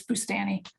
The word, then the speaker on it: Bustani: bustani mustani hey what's the correct pronunciation for your last name oh it's boostani but um i don't